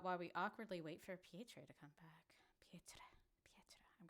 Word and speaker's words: Pietre: Yeah, calling him Peter is perfectly acceptable. I don't want to do that. I want to say it correctly. I just can't get the roll of the tongue quite right. That's okay. It takes practice. I prefer Peter to Petrie because that is even further from the point.